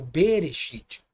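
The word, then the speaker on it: בראשית: breve B audível ok ele é pronunciado então como uma sílaba normal por isso que as pessoas l o primeiro texto da Bíblia Hebraica como berechit porque ali não existe essa redução vocálica no aramaico Tá bom então C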